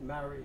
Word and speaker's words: Marie: On his way home, he stopped to visit his friends Jerry Riley, and Jerry Riley's wife is Marie, or she pronounces it Mary, she's Irish, Mary Jackson.